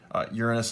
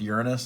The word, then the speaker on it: Uranus: here Jupiter Saturn Uranus and Neptune which sidenote Uranus has totally tipped on its side and it